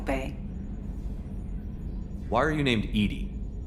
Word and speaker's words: EDI: why are you named Edy Ed is the phonetic pronunciation of Eed that is an acronym